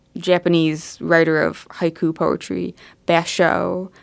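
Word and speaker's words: Bashō: writer of haiku poetry bash show I think is how you say his name um I think sometime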